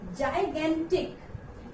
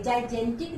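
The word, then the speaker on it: gigantic: Next, इसको क्या पढ़ेंगे, इसको पढ़ेंगे जाइगेंटिक। एक जगह इसको जय पढ़ेंगे, एक जगह इसको ग। जाइगेंटिक, इसको हम प्रोनाउंस करेंगे, जाइजेंटिक नहीं, जाइगेंटिक।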